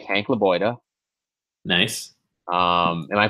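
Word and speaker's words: Lebioda: is a name I think you'll like Hank laoa nice um am I pronouncing that correctly yeah perfect um again like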